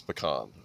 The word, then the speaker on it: pecan: It's pecan. Okay, you have to pronounce it right or they'll come after you.